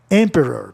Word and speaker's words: emperor: Emperor. Posso explicar essa? A palavra é proparoxítona terminada em vogal consoante, OR. Como é proparoxítona, a sílaba tônica vem em emp. Emperor, emperor.